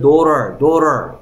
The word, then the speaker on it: daughter: 그래서 GH는 어떨 때가 많다? 소리 안 날 때가 많아. 소리 안 나는 녀석이 있어.